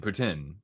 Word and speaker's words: poutine: How about the Montreal Poutine or Putin? Putin. That's apparently the the correct way to say it.